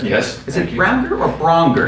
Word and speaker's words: Braunger: Is it Braunger or Braunger? It's Braunger, but I imagine some people might pronounce it that way.